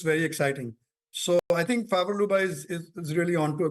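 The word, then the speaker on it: Favre-Leuba: Favor Luba, you pronounced it perfectly.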